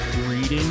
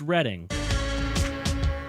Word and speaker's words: Reading: You've been pronouncing it like reading your whole life. A lot of people do, but it's reading.